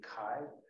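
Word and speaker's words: χ: Now, it's probably would have been pronounced with a more of a guttural sound like that. Like in German, they have that, and Scottish, lock, like that.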